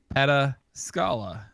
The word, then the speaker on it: Pataskala: about that anymore so while those in the know favor the third pronunciation Pataskala uh Pataskala Red IPA can also be called but Pat askala or Peta Scala IPA uh no matter how you say it though this is a